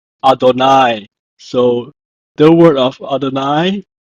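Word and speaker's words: אֲדֹנָי: of God's name so whenever I see you he I will pronounce it as Adonai so the word of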